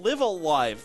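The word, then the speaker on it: Live A Live: over first of all live alive that is how you pronounce it right live uh live yes okay and it's it's spelled l-i-v-e space a space l-i-v-e and I'm not gonna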